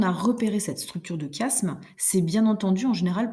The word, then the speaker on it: chiasme: si on était tous ensemble donc ça se prononce chiasme c'est une figure de construction au lieu d'avoir